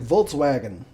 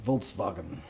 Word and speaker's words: Volkswagen: Like everybody's like, Volkswagen. like, you know. Volkswagen. It's actually Volkswagen because it's German.